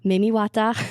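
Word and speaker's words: Mami Wata: And then in Cameroon, I have read a book series about this one, so I know how to actually pronounce it. It's Mimiwata.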